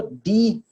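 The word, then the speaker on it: die: ये जो है वो डाई नहीं है भाई, इंग्लिश वाला मरना जो होता है ये वो नहीं है, ये डी है। सही है। इसकी जो प्रोनाउंसिएशन है वो डी है, डी या सिंपल डी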